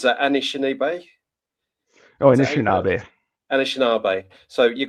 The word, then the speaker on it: Anishinaabe: So how do you pronounce that? Anishinaabe.